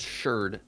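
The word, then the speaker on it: sherd: of them yeah and it is it is pronounced shirt yes Shard correct yeah it's an actual word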